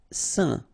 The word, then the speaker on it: saint: Saint. Okay, combination of A, I, N phonetically will give you this un pronunciation.